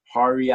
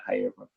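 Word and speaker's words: Jaire: It's, correct me if I'm wrong, Hari Alexander. Is that how you say it? I'm pretty sure it's Jair Alexander.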